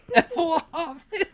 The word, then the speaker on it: Efohavale: It's Vale. F-O-H-A-Vale. Efohavale. Yeah, they're swamped.